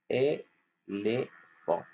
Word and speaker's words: éléphant: Alors, ce mot, c'est éléphant. Ça s'écrit avec PH. Et PH, il fait F.